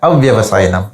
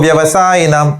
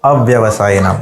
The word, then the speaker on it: अव्यवसायिनां: the rules of Sanskrit, when the yo has come, then again you don't start with a. So it's pronounced in one line as Buddha yo vyavasayinam.